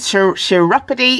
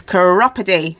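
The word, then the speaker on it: Chiropody: I was corrected with it isn't sure chiropity it is chiropity okay so anyway um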